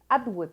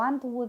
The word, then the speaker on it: Atwood: Atwood es lo que nunca sé decir, porque a veces le digo Antwood y a veces le digo Artwood y no lo quería decir mal. Margaret Atwood.